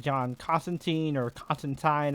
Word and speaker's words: Constantine: I never know which way you're supposed to pronounce it. I know British people pronounce it Constantine, so if you're reading an actual Hellblazer comic, you pronounce it Constantine, but this interpretation feels way more like the New 52 version of John, which I pronounce as Constantine to make a distinction.